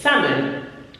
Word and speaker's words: salmon: We omit that sound in English, the L in English. Salmon.